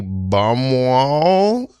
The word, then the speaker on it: Baumwoll: In the classroom this week, we have Baumwoll.